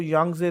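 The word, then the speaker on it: Yangtze: continent wise Asia जो यंगजे river के पढ़ाया टी साइलेंट यंगजे रिवर ठीक है या का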